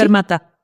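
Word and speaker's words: Fermatta: la academia de música fermat se pronuncia así fermata fermata en fermata sé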